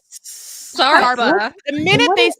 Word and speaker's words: Sarper: Sarpa.